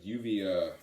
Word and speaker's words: Uvia: haven't checked but anyways this is uh yuvia with my try pronounces that's how you pronounce it uh put out through fallen empire i believe yep so if you're not familiar with uvia uh essentially an atmospheric